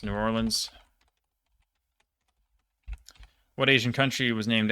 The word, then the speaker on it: New Orleans: What city is often pronounced Nolins by the people who live there? Guess it's New Orleans.